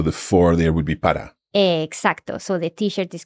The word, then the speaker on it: para: Para. Para. And that's P-A-R-A. So it's got a single R. Just watch the pronunciation of that.